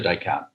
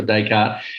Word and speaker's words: Descartes: descartes dot com and it's spelled like d-e-s-c-a-r-t-s dot com like the old philosopher hey really good um vp global trade and intelligence premiere for descartes excellent to talk to